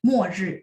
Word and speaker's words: 末: Mo-ri. Nah, satu lagi ini kan tulisannya MO. Nah, teman-teman kalau masih ingat bacanya MUO ya, ada U di tengah-tengah supaya bagus pronunciation-nya ya.